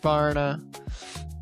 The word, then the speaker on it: Varna: Uh, happy brunch to Varna Bulgaria. Happy brunch, Varna. Rhymes with Clara.